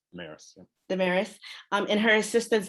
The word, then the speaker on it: Damaris: In your tour guide, I don't know if I'm pronouncing her name correctly, Damaris? Damaris, yeah.